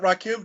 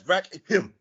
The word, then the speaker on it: Rakim: I mean, that's not Rakim. That's Rakim.